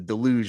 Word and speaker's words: deluge: It's the French pronunciation. You got to keep your pinky out.